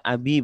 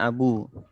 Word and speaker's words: Abi: Asmaul homsa karena and jadi dibaca Abi bukan Abu Sofyan a ini badannya